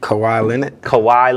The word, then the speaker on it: Kawhi: Big round of applause to them, and a big hats off to, I think I always say his name wrong, but Kawhi Leonard? Kawhi Leonard.